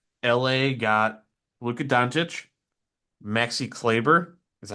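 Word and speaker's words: Kleber: trade in which La got Luca donic Maxi clayer is that how you say his name yeah clber clayer yeah I don't know why I when I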